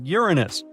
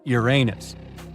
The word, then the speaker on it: Uranus: all this time actually astronomers say we should be pronouncing it like Uranus not Uranus I can't say a